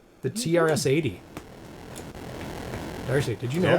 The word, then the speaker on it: TRS-80: But it, The original TSR-80 was nope. It's not D&D. TRS-80. TRS. I don't know why I'm saying it wrong suddenly. TRS-80.